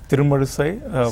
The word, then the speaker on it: Thirumuzhusai: much I couldn't get your last name so pronounce it for me it's true mother say what didn't wanna say to room a suicide it is a very nice name what kind